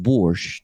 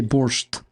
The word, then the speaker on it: borscht: I noticed because this is the way you say borscht. You don't say borscht. It's borscht, guys. We don't say T. So basically, it should be borscht.